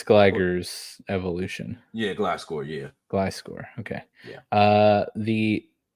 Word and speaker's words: Gliscor: Yeah, Gliscor.